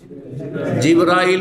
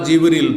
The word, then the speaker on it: জিবরাইল: ফেরেশতা, ফেরেশতাদের প্রধান জিবরাইল বা জিবরিল, 2 ভাবে উচ্চারণ করা যেতে পারে।